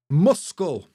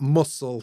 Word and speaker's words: muscle: and knife, not knife, and muscle, not muscle, you know what I mean?